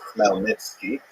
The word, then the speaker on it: Khmelnytsky: It's actually pronounced Khmelnytsky with a double at the beginning.